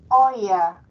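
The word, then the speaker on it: euer: o vuestra en masculino oya acuérdense e u se pronuncia Oy oya fatra vuestro padre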